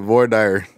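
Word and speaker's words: Voir Dire: I had to make sure, but Void Dyer.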